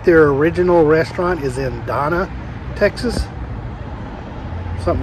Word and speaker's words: Donna: original restaurant is in donna texas something like that not donner donna i'm headed over to